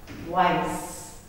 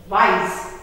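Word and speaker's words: weiß: magdalene pronunciation children white wise here we have the set and it is pronounced as double s so it wise this sounds as w i s e of english next we have black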